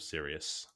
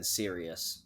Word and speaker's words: Sirius: Sirus I don't care it's spelled Sirius so it's the stars of Sirius okay when I was reading it I said sirious so yeah yeah exactly